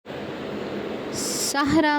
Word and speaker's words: صحرا: پر زبر ہے۔ صحرا، صحرا میں صاد پر زبر اور رے پر زبر آئے گا اور ہا لفظ ساکن ہے۔ عالم، عالم میں عین